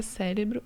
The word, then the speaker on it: cérebro: Não, pessoal, a palavra cérebro é proparoxítona. Tem aqui o acento, né, na antepenúltima sílaba, proparoxítona acentuado.